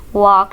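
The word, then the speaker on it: walk: ईट इट इसे खाओ वक स्लोली वक स्लोली इसमें एल साइलेंट है वक स्लोली आहिस्ता चलो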